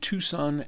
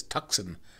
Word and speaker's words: Tucson: comes from Chris in Tucson Arizona I always read that it's tuckson but I know it's Tucson I'm not supposed to pronounce the C would you explain what